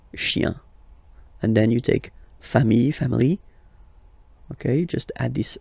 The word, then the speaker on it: famille: Famille, singular form, famille, plural form, same pronunciation, S, not pronounced.